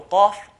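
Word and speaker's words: ق: So qaf, qa. It's a heavy letter.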